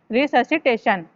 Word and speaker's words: resuscitation: Cardiopulmonary रिससिटेशन होता है RESUSCITATION, रिससिटेशन। ठीक है, इसकी प्रोनाउंसिएशन है रिससिटेशन।